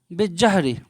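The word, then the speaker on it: بالزهر: উত্তর হবে যে লাইবাত আয়েশাতু বিজ্জহরি, লাইবাত আয়েশাতু বিজ্জহরি। এই যে 1 সেকেন্ড, এই জাহরুন মানে ফুল, এই 1 সেকেন্ড, এভাবে আলিফলাম আসবে, আলিফলামের উচ্চারণ, লামের উচ্চারণটা হবে না, বায়ের সাথে যোগ হয়ে যাবে, এভাবে এভাবে, বিজ্জহরি।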